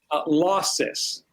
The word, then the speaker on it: Losos: in herpetology So today we're on with Jonathan losos did I say that correctly losses losses yes okay so he told me wrong